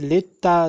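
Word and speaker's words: للطبيب: Let me tell you one thing that Lam is silent, but since we are writing here, so for that reason I said you that pronounce it lil. Otherwise, Lam is silent. Okay. So we pronounce it litta, litta bibi, but we will write to Lam.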